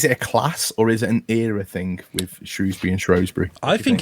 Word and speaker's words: Shrewsbury: one liner there is no o in Shrewsbury it's all that's an age thing that's that's an oldfashioned comes from old pronunciations of a town that's uh nearly a thousand years old it's cool um right